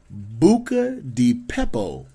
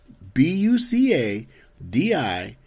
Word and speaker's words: Buca di Beppo: actually get to see how it's spelled and pronounced. Let's see if I can do it. Ready? It's called Buca di Beppo. Bucadipeppo.